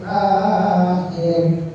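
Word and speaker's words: الآخر: yauma wal yaumil akhir akhir jangan ya bacanya wal yaumil akhir a-nya yang panjang karena patahnya berdiri ko dikas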